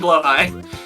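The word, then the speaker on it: Blåhaj: Are you Team Blahaj or Team Blowhai? which pronunciation? I think it's the latter because it's Swedish and all. So I think that's like the actual pronunciation, but I hear it as Blahaj a lot, anyways.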